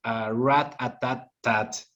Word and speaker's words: Rat-A-Tat-Tat: Now let's talk a little bit about Rat-A-Tat-Tat.